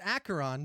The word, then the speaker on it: Acheron: Acheron, which we figured out is pronounced Acheron during the event, Extra Life event.